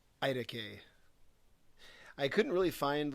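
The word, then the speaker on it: iTaukei: cool how it's spelled it's i t a u k e i i decay i couldn't really find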